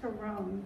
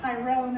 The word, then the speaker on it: Tyrone: I do mispronounce words, but I have been trying to practice pronouncing the words correctly, like County Tyrone instead of Tyrone, as most Americans would say, things like that.